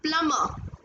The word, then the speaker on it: plumber: No, it's plumber. Plumber. So B is silent.